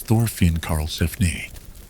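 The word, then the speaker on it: Thorfinn Karlsefni: The next major expedition was organized by a man named Thorin Carlphan, pronounced roughly as Thorin Carlphanne.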